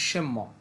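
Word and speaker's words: 什么: কি শব্দটা হবে এরকম এস এইচ ই এন এম ই এখানে এই এন এর উচ্চারণটা উচ্চ থাকবে শব্দের উচ্চারণটা হবে সেম্য অর্থ হচ্ছে কি সেম্য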